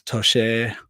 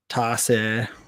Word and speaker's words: Toce: It's always Toce, Toce, whatever. Anyway, it's Toce.